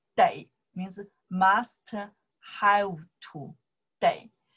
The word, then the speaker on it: 得: When I pronounce the day, means must have to, day.